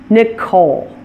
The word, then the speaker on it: Nicole: the opposite syllable and my name is one good example of that Nicole it stresses the second syllable since it's a name that came from the French language other names that do